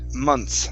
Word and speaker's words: months: the chat box okay we drop the th and um we pronounce it months like that months okay